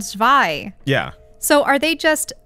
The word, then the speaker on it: Zwei: The comment is, notice you pronounce the German word Zweihander with the English Z. As a German, I cringe whenever someone pronounces words in the wrong language. Can you pronounce the Z as a TS as Germans do? Admittedly, this is for a